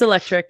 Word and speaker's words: Electriq: set up by the electriq um Team I believe I don't know if I've pronounced that right electri yeah it's electric yep okay okay um but